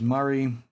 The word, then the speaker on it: Murray: I think that's one of the parallels you get within this box, which is Murray. I think you guys pronounce that Maury in the States, which has always been a bit funny to me when I've watched shows.